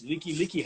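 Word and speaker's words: Likelike: Is that the Lac Highway? And he's like, no, it's Leaky Highway.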